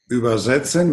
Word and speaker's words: übersetzen: setzen, on the infinitive, and the other one on über. Übersetzen means translate. And übersetzen, put something on. Übersetzen, because it takes the accent on setzen, is not separated.